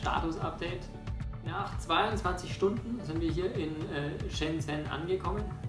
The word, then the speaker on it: Shenzhen: After 22 hours we arrived here in Shenzhen or which I learned to today, how it is pronounced properly.